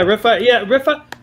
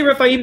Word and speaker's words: Rephaim: Rephaim. I say Rephaim because it's like cherubim, seraphim. The I am in Hebrew is just a plural.